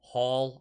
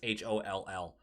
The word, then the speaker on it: Holl: Hall, I don't know how to say his name. It's Holl.